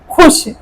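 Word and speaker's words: خوش: अब ये वाव क्या है? साइलेंट है। साइलेंट है। वाव मधुला है। तो वाव मदुला अगर आ गया तो वाव की आवाज क्या होती है? साइलेंट हो जाती है। लुप्त हो जाती है। और साथ वाले अक्षर में वो मिल जाता है।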